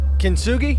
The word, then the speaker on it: Kintsugi: So now the album Kintsugi, am I pronouncing it right? Kintsugi, yep, you got it.